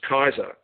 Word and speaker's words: Caesar: kaiser julius kaiser julius caesar but it's pronounced kaiser was the birth day